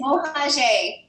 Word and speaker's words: Mohager: Is it Mohajer? Mohajer? It's Mohajer. Close. Mohajer. Dang it.